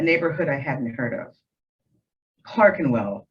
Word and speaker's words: Clerkenwell: I hadn't heard of Clark and well the owner of the hotel clarified when I arrived but I couldn't get the hang of forming only the 1e and kept calling it Clark and wall he was a gentle